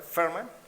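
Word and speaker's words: Fermán: ¿Está bien la última parte, Ferman, que lleva acento? Sí, Ferman, exactamente.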